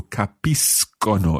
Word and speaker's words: capiscano: which will be capisco and of course it's being followed by an o there so capiscano it's a hard c sound that's quite tricky see but it's exceptionally